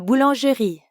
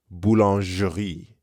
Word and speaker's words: boulangerie: À la boulangerie. To the bakery. Notice how you can hear the sound je in boulangerie. Boulangerie. When French speakers say this word quickly, they might actually leave the sound off.